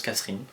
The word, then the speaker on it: Kasserine: Vous le prononcez comme vous voulez, moi je le prononce Kasserine. Court, simple, efficace.